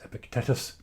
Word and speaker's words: Epictetus: let's start again so um epic Titus what do we need to know about epic Titus for today I'm assuming that it's pronounced epicotitis perhapses Epic tetus Epictetus Epictetus I like that Epictetus uh he